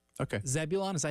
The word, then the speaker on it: Zebulon: is the other triangle all right correct okay Zebulon is that how you pronounce that Zebulon yeah Zebulon Vance was uh a governor of